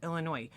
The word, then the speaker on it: Illinois: The S is silent. That's what it is. Illinois.